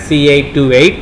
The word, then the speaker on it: 2SC828: The 2S part is usually not pronounced, right? Very common as C828, and the other transistor is D400.